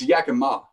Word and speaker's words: Yakima: the you know it's yakima the stress on the ma it's like the proper way to pronounce it yeah who cares i